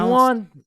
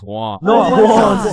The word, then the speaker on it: Juan: That's just how it's pronounced. Jan, is there Jan in the room? It's Juan.